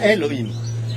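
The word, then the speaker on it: אלהים: et le Aleph il y a un ségol dessous, donc ça se prononce bien Elohim.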